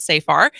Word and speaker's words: Safar: The executive director of Law Forward, Nicole Safar, who I've been saying it wrong. It's Safar, not Safar.